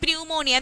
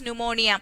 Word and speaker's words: pneumonia: is saying like this we know that word should pronounce as pneumonia and we were wondering and we were looking at him and he said yeah if i didn't say pneumonia you won't write the letter p so it was really